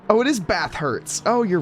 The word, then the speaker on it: Bathurst: Holy, why was that so difficult to pronounce? It's literally the name of the track. Either way, this... It's not though. Hurts. Bath hurts. Oh, it is Bathurst.